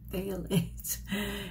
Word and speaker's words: phthalates: fail lace fail eights phthalates it's t-h-a-l and it's a um short a so it's thale and then ate like